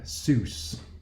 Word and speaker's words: Seuss: equation she got named Doug Seuss not like dr. Seuss but pronounced the same way and Doug Seuss has